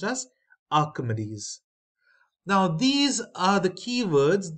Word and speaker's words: Archimedes: lemn Escape Rose spiral of Archimedes this is pronounced as Archimedes now these are the keywords these you may